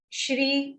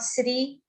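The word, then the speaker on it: श्री: Om Shri, Shri, not Sri, Shri Paramatmane, ra complete.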